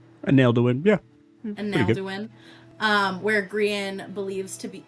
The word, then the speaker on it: Angelorum: Is that how that's pronounced? Angelorum, yeah.